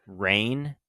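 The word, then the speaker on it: Reyne: jump too far ahead, Rain is how they say her name. Princess Rain, the one who you find out is a princess. R E Y N E.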